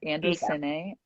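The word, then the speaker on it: Andycine: so uh andy cinny it's andy like spelled like the name andy short for andrew and cindy it's uh c-i-n-e like short for cinema so it's andy cine and it's 4k one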